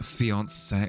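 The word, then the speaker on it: fiancé: Fiance. There we go. With the little little bit of the the accent on it. Beyonce. Wait, so beyond like Beyonce? That kind of pronunciation.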